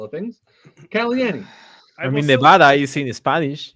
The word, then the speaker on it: Nevada: And there's a town in Missouri that's spelled the same, but it's pronounced Nevada, Missouri.